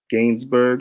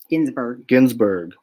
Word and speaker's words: Ginsburg: Gainsbourg, what am I saying? Ruth Bader. Ginsburg.